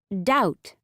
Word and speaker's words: doubt: The B in MB and BT is always silent at the end of a word. Thumb. Doubt.